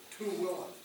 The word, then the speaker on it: Tooele: The change of ministry took us to the next valley to the west, the Tooele Valley. That's how you say it, Tooele.